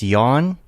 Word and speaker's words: Jan: But he pronounced your name Jan, and Ah. I'm trying to say like to tell him the Jan. difference. I think you're thinking it's like it's yawn. Yawn.